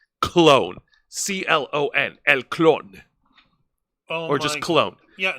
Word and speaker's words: Clon: El Clone. Oh or just Clone. Yeah, no, Clone. Clone. That's how it's spelled in Spanish.